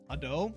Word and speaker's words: Ado: all over my timeline I adore um a doe is how you say their name uh as a as